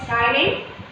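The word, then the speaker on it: ptyalin: That 1% contains salt, mucus, chyline. Chyline is, the P is silent here, we should pronounce it as chyline, and it is also called as salivary amylase.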